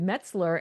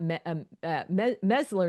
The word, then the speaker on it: Metzler: It's Metzler and not Mesler, not Metzler, like she did.